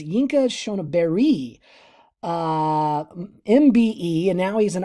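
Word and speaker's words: Yinka Shonibare: And then you know a little bit because we did an EMAC with I've always pronounced it differently, but it's Yinka Shoniberi, MBE, and now he's an RA, so he's from the Royal Academy.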